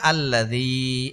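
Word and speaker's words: الذي: নিয়মের কথা বলে রাখি জের পরে যদি ইয়ার মধ্যে জজম হয় বা সাকিন হয় তাহলে এক আলিফ টেনে পড়তে হবে তাহলে আল্লাজি এর মধ্যে এক আলিফ টান হবে তাহলে উচ্চারণটা কি হবে আল্লাজি আলিফের সাথে একটা জবর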